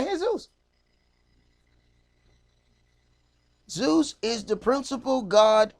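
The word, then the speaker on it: Jesús: j esus s in his name he say hey Zeus Zeus is the principal god of the heathens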